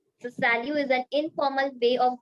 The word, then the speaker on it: salut: greeting your friends okay salute yeah salute so T has to come at the end we have to pronounce it no okay should not come at the end at all okay so salue is an informal way